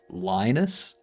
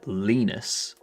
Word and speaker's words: Linus: the person's from, but I've heard the I've heard it pronounced Lionus and Lenus. I think I I think it depends on where it's on where they're from.